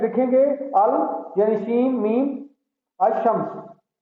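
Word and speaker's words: الشمس: अशम्स, अलिफ लिखेंगे, अल यानी शीन मीम, अशम्स। अब आपने देखा मैं अशम्स पढ़ रहा हूं, इसको अल शम्स नहीं पढ़ रहा, क्योंकि यहाँ लाम जो है वो साइलेंट है, इसको लिखा जाएगा लेकिन पढ़ा नहीं जाएगा।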